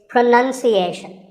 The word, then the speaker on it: pronunciation: you say it well we say pronounce pronounced and pronouncing but pronunciation there's no noun in this word it's pronunciation word number two is